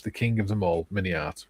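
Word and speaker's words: MiniArt: Forget to include perhaps the king of them all, Mini Art. Remember, Mini Art rhymes with multi-part.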